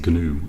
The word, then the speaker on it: GNU: The G is actually pronounced in GNU, I believe.